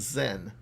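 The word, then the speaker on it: 然: the uh pronunciation is zen just like you'd say like zen buddhism and i remember this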